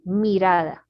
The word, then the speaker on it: mirada: This word mirada, because it's M-I, and for us, I is always tense. E, mirada.